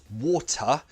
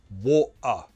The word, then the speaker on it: water: And that word we just did, you could pronounce water like water.